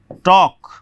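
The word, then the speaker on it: talk: उसी प्रकार से टॉक, इसको लेकर के भी आपको बताते हैं।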